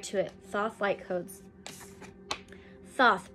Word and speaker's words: Thoth: it soft light codes Thoth pronounced Toth well not for me also known as tahuti